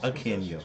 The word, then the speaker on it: Akinjo: The A is silent. Someone has to say, I got it right away. No, it's okay. Akinjo.